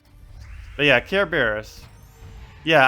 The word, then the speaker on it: Kerberos: But yeah, Kerberos. Yeah, I keep saying Care Bear.